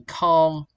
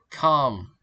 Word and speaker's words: calm: For example is uh L in calm, K in knife. learners try to pronounce them calm. Like in calm, the L is silent and for the knife K is silent.